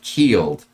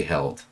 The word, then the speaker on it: Heald: If you follow John Heald, then please don't say held.